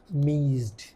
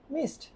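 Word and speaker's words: missed: Written form কি, আমরা লিখলাম হচ্ছে মিজড, ঠিক আছে স্যার, মিজড অনেকজন বলে আর কি, কিন্তু যখন উচ্চারণ করতেছে নেটিভ স্পিকাররা তখন এটা হয়ে যাচ্ছে মিসড, আর আমরা বলতেছি মিজড।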